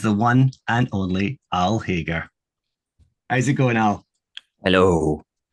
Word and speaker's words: Hagar: It's a weird one to pronounce, but yeah, I am Hagar, as in Hagar the Horrible, the Viking.